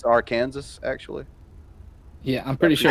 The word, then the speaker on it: Arkansas: pronounced that wrong it's Arkansas actually yeah I'm pretty sure I heard I heard if you say our Kansas and Arkansas they'll throw should I do depends